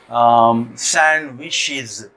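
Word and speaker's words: sandwich: तो उसी तरीके से जो है ना आपके सैंडविचेस, सैंडविचेस कैसे लिखेंगे आप, सैंड, इसको सैंड ना पढ़ें, ओके, सैंड नहीं है ये, वहाँ पर डी जो है साइलेंट है, सैंडविच, ओके, सैंडविच है।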